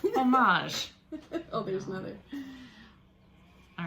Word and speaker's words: homage: to her yes beautiful see that's perfect french pronunciation oh i can say one word in french homage oh there's nothing all